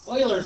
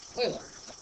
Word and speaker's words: Euler: We have to use this number E, Eulers number. This word is pronounced Euler, not Euler, but Euler.